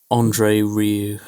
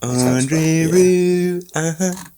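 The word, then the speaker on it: André Rieu: Andre Rieu. I don't know if that's how you pronounce it. R-I-E-U. Andre Rieu.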